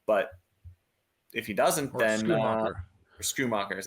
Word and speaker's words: Schumacher: And especially if Ferguson sits, maybe you look to take the value, with Shoemaker. But if he doesn't, then Schumacher is how you say it.